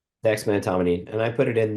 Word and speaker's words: dexmedetomidine: It sounded like dexmedetomidine.